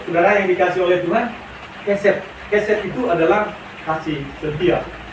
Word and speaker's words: hesed: Oke ya, kasih setia, hesed. Hesed. Supaya tepat pengucapannya, coba saudara ucapkan hesed.